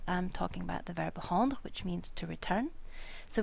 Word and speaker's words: rends: So basically it becomes je rends, tu rends, il rend, nous rendons, vous rendez, il rende. Now this word, and this word are all pronounced rend. You don't pronounce the D or the S.